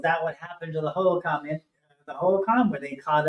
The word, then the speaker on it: Hohokam: Well, that could be another way to look at, if you see this thing grabbing, is it pronounced Hohokam? Hohokam, yeah.